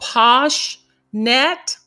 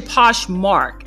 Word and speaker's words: Poshmark: Third, could be, there's one called PoshNet, and with PoshNet, and I'll make sure that I'm pronouncing it correctly. I'll put the correct name of it here. It's actually Poshmark.